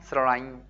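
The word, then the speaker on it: ស្រឡាញ់: 멍 스러라인 아운, 스러라인 보이십니까?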